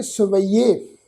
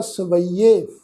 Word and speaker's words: ਸਵਯੇ: सस्सा वावा, फिर यईया अखर, फिर उहदे उत्ते एक लां दी मात्रा। इस शब्द का पाठ उच्चारण करांगे सवैये। सवैये इस ढंग नाल जी, सस्सा वावा, ये जिहड़ा यईया अखर है जी, इस यईये अखर का उच्चारण करांगे ईडी नूं बिहारी लगा के, फिर ईडी उत्ते एक लां, इस ढंग नाल उच्चारण होएगा सवैये।